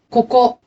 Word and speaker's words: ここ: are usually pronounced voiced, but unaccented ka and ko at the beginning of a word are often unvoiced when followed by the same syllable. 書かない。 Does not write. ここ。